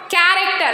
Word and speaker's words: character: board here I wrote character in character H is silent why it's coming after after C it's coming after C in Chrome also H